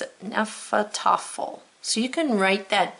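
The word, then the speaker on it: Hnefatafl: I wrote down that it was a noun and how to pronounce it, Nephal Tuffle.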